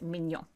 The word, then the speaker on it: mignon: Yes, but it's spelled differently, and it's pronounced mignon.